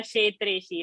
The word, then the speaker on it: क्षेत्रेश: So what to remember is the ksha pronunciation, not to say kshetra swarupa kshetreshi. It is not sh. So the ka and sh should come and ksha sound has to come.